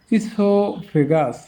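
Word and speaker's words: oesophagus: English ওয়ার্ডের শুরুতে বা মধ্যে ও ই এর উচ্চারণ ই হয়। তো ও ই, এই যে ecology, ইনফাইল, oestrogen, ইসোফেগাস, over, Oedipus, Phoenix.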